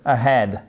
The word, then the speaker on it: ahead: Là aussi he accent sur la seconde syllabe. C'est pas ahead non. Head head. Le H il est expiré comme si vous faisiez un peu la buée sur une vitre.